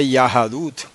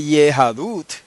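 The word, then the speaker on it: יהדות: Ok, Yahadut, se pronuncia Y-A-H-A-D-U-T, Yahadut. Entonces, ahí tiene usted un ejemplo moderno de una palabra que empieza con el nombre de Yahweh, ¿ah? Y se escribe con A. En hebreo moderno se escribe con A, no se dice Yehadut.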